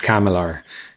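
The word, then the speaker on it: CCAMLR: abbreviation and it's usually for producing yeah it's pronounced kamilar and uh it was it was really weird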